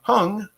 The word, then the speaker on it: Hung: And Hung got me corrected on the name. My name is pronounced like hung, like clothes on a hanger.